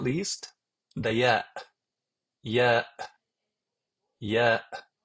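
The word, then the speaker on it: ي: Last but not least, the Ya, Ya, Ya, which is equivalent to the letter Y in English, such as when you pronounce it in the word yes or you.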